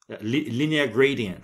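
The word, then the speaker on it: linear-gradient: E aí para isso eu vou escrever aqui, ó, línea gradiente. Linear gradient seria a pronúncia em inglês, línea gradient.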